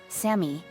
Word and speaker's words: Sammy: twin cheerleader girls came Sammy my name is pronounced Sammy Sammy was the nice